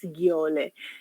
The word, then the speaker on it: gaol: Kapag nakikita niyo yung spelling, pero ang pronunciation daw niyan is giole.